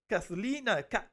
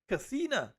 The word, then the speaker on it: Kathina: And Jakeem, Anne-Marie, Angie, Oswald, Kathlina, it's Kathina, good, yeah, I think I pronounced it correctly.